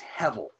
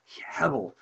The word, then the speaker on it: hevel: the hebrew word means the hebrew word is hevel um h-e-b-e-l really you can pronounce the b in hebrew like hebble um so hevel and what it really